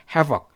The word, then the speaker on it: havoc: 비슷하다고 볼 수가 있겠습니다 havok 자 어떻게 할 수 있을까요 이렇게시면 됩니다 발음을 기억해 보세요 hav 회복되기 힘든 큰 파괴 회복 회복 그렇죠 회복되기 힘 파괴가